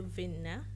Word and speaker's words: Winner: call me call you Winer I think I call you vinner I don't know why the Swedish pronunciation I guess you're turning Swedish yeah